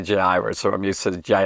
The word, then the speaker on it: Jairus: guy named jairus really in the greek the j isn't isn't you know it's not there it's um i'll probably say jay iris or i'm used to